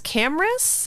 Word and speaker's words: Camrus: It's Camrus, which is very cool. Camrus Johnson.